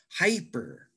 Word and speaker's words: hyper: Hyper. Hyper, the first syllable?